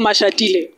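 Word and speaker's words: Mashatile: Mashatiller. Am I pronouncing it correctly? Yes, yes, it's Paul Mashatiller.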